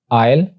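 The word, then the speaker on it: isle: एस के बारे में रूल्स ये हैं कि एस इज not pronounced before L, यानी एस को एल से पहले प्रोनाउंस नहीं किया जाता, लाइक आइलैंड, आयल और आइलेट।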